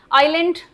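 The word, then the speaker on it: aisle: Island, S silent, आइल में S silent, इस वाले आइल में भी एस साइलेंट, लेकिन यहाँ पर आप एस बोल रहे हैं।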